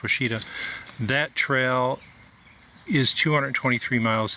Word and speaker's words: Ouachita: H IIST he I think but it's spelled pronounced Washita that trail is 223 miles it starts in